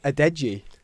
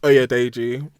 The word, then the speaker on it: Oyedeji: Oyedeji. Oyedeji. We'll take it. We'll take it. I've always said Adeji.